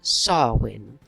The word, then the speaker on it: Samhain: pagan festival is called sarwin and you might see it written as samhain but it's pronounced sarwin and this was the